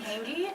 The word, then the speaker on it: Hanggi: And my name is Hangy, and my Instagram name is just my name.